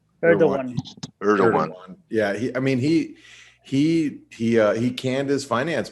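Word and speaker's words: Erdoğan: Erdogan. Erdogan.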